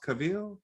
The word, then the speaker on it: Cavill: think we will see, is his last name pronounced Cavill? Cavill? Henry Cavill, yeah.